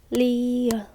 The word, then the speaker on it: 리을: ㄷ phát âm là [d]. Và tên là 디귿 được rồi, tiếp theo là 리을 vẽ một đường từ trái sang phải